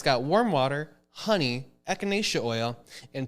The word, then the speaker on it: echinacea: And if you're sick, take echinacea. I don't know how exactly. Echinacea. Oh, is that how you pronounce Yes. it? How do you pronounce it? Echinacea.